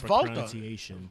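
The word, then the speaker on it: Walter: Of course, it's Volta. Volta. Thank you very much. In German, you don't pronounce the W. It's a V.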